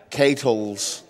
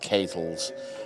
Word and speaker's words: Kels: I have a $5 donation from uh Kles. I have been corrected. My name is actually pronounced Kels.